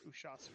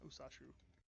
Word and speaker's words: Ushasu: It's Ushasu, not Usashu.